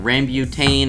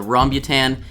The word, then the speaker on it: rambutan: how to pronounce it i've been saying rambutane and all this stuff but yes it's the rhombutan and it looks very